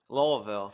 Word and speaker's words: Louisville: was just in Louisville Louisville is how you say it louville get right Kevin yeah